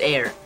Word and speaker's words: heir: It's pronounced heir.